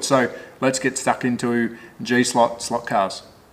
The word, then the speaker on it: G-Slot: got to be very careful on how i pronounce the name it is g-slot slot cars that is correct g-slot so stick around let's check out this i